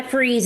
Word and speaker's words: Fries: Like there's freeze Virginia in where I live at and it's spelled French fries like f r i e s like that but it goes by freeze and it's from Henry